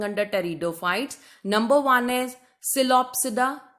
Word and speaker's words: Psilopsida: Number one is Psilopsida, P is silent, then Lycopsida, then Sphenopsida and Pteropsida.